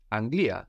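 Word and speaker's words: Αγγλία: the England England is Anglia Anglia Anglia Anglia is spelled with two ramas we've seen how that gives us NG or just a g like in the word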